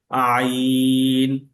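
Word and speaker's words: عين: আইন আইনের শব্দটা শক্ত এবং চাপ দিয়ে করতে হবে। সেটা গলার মাঝখান থেকে এবং গলার মাঝখান থেকে এটা চাপ তৈরি হবে এবং টাইট বা শক্ত করে এটাকে উচ্চারণ করতে হবে। এই আইনের উচ্চারণ এবং আলিফের উচ্চারণ কাছাকাছি।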